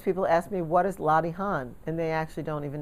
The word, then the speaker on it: Latihan: ask me what is lottie han and they actually don't even know how to pronounce it i pronounce it the new york way lottie han but it's spelled l-a-t-i-h-a-n lottie han that's the british way